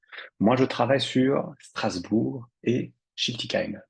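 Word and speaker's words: Schiltigheim: travaille sur Strasbourg et chiltiim c'est comme ça que ça se prononce attention et bien je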